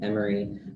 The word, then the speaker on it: Emory: university i'll tell them emory rhymes with memory um it's silly but